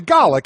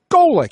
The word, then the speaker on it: Golic: up oh no no that's clearly garlic and I will do recalled garlic for the rest of your days it's Golic but isn't she change